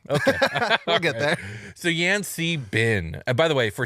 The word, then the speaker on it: Yan-C-Bin: I checked all the pronunciation guides that I could find, and also just looking at it, I don't know how else you could pronounce it. Yan Si Bin. Okay, Yan- that's fair. Yan Kabine. I just try to say them all so people don't get so mad. So Yan Si Bin, or Yan Si